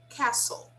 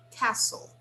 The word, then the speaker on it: castle: the castle guys observe this word has a silent letter we do not pronounce the t it's silent okay we spell the